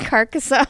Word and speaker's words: Carcassonne: You want to know all the games I mispronounce? We can talk about We don't Casserone. have- we could just roll a What? clip. We Casserone. could Carcassonne.